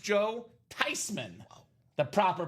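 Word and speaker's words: Theismann: He was forever known as Joe Thyman and never Thsman again.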